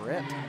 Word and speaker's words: Rhett: Rhett Holbrook. Rhett? It's like Thomas Rhett, spelled the same way.